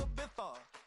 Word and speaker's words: Ibiza: Yeah, it's pronounced Ibiza, actually. What's the difference, man?